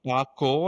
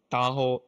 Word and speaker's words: Tahoe: version will be called Tahoe Tahoe not taco it's taho taho taho it's is like a like a river or a mountain in America.